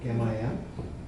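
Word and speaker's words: Kamayam: The K is pronounced like a hard G, Gamayam.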